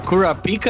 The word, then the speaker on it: Kurapika: Okay, the Sask obvious rage bait, but the Kurapika I legitimately am like that has to be how you say it.